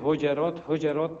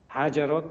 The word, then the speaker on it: حجرات: صنف 6 خوانده باشه میفهمه که همی سوره حجرات تلفظ میشه حجرات تلفظ نمیشه آقای غنی دیروز در نطق خود